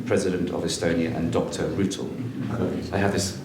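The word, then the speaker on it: Rüütel: Rutel. I have this pronounced correct? Yes, good. It was very good. Oh, thank you. President of Estonia and Dr. Rutel, Your Majesty.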